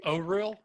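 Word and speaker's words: Auril: realms so fun fact it's actually overreal or real there's a point yeah let's go according to the pronunciation guide they put one in here it's o h r e e l o real i don't know i've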